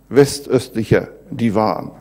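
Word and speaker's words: West-östlicher Divan: known as west-eastern divan Vista here davonne as it is pronounced a German and I'll concentrate on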